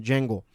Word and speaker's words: Django: वो आपको गुलाम बनाकर, अगर आपने एक फ़िल्म देखी है, जेंगो इसका नाम है, DJANGO ऐसा उसका स्पेलिंग है, उसको प्रोनाउंस करते हैं जेंगो।